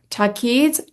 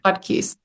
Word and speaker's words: Taqdees: I am so excited today to introduce Takis. Is that how I say your name correct? Takis. Tak Takis. You just add the D in. You have it right. Todd Keys.